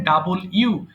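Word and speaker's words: W: একজন বলে ফেলেন ডাবল ইউ আচ্ছা এটার সঠিক উচ্চারণ হবে হচ্ছে ডাবল ইউ মানে দুইটা ইউ লিখলে এরকম ইংলিশ হয় হ্যাঁ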